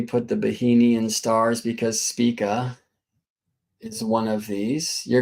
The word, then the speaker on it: Spica: And many sidereal zodiacs are configured to this star, which is Spica. It's spelled like this, S-P-I-C-A.